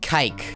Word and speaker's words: kike: It rhymes with bike. Kike.